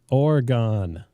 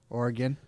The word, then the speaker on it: Oregon: so that's an Oregon that's how you pronounce that by the way Oregon Oregon it's like trying to say car right in Massachusetts keys